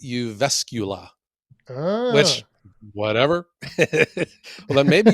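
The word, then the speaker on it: Jyväskylä: to a city on on the map it's pronounced to me Jiva Skyla but when you say that you're going there they look at you like you know where is this guy from it's pronounced you vescula which whatever well then maybe you should spell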